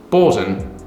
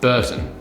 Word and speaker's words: Bourton: Introducing the Tricker's Bourton, pronounced Bourton, not Burton, or so I'm told by a master of the English language up in those parts of the world.